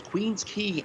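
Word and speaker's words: Queens Quay: absolutely i'll uh i know how to properly pronounce queen's key and straw that's like extraction yeah queen's key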